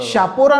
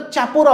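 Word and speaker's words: Chapora: तर तुम्हाला ते कळतं शापोरा नाव आहे पूर्वी आदिलशहाचं तिथे शहापुरा हे हा शब्द होता हे तिथे वसाहत होती त्याचं ते शापोरा झालं होतं तर काही जण ज्या स्पेलिंग पोर्तुगीज भाषेमधल्या स्पेलिंग चेंज नुसार त्याला चापोरा बोलतात बरोबर तेरेखोल तिराखोल बोलतात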